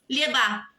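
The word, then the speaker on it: llevá: E vos, lleva. Lleva la niña a la escuela. Também a tônica da sílaba cai para a última.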